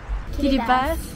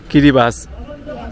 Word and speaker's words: Kiribati: Kiribati. Kiribati. Not Kiribati. Kiribati. Like T-I is pronounced C.